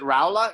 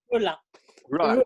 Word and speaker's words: Rula: Is it Raula? Am I pronouncing that correctly? Rula.